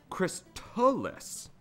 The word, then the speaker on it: Crystalis: Hammocksat says Crystalis is the proper way to say it. Like Crystalis with a T from crystal in it.